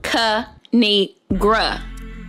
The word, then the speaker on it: Kinigra: me tell y'all a thing of three it's pronounced kanigra now subscribe oh I crack myself up thanks